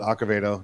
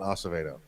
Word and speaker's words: Acevedo: accavado uh and yes he does pronounce it akavedo not Acevedo so uh for those